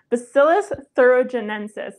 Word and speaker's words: Bacillus thuringiensis: Bacillus thuringiensis. Bacillus thuringiensis.